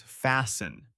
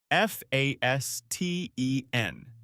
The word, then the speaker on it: fasten: The word is fasten. F a s t e n. The t is silent. You say fasten.